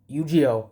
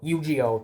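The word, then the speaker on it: Eugeo: Yuiio. Yuiio. That's how they say it.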